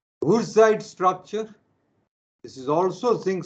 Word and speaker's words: Wurtzite: There is another type of ZNS called Wurtzite. In German, W is pronounced as V. Wurtzite structure.